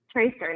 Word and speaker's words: Treaster: Am I saying it right? Treaster? Treaster, yes. Yeah.